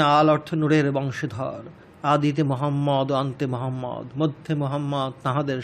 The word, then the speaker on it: মোহাম্মদ: মিমের উপর তজদিদ রহি আছে। ফলতুইহার উচ্চারণে মিম দ্বিগুণ হই আছে। অর্থাৎ মোহাম্মদ মোহাম্মদ।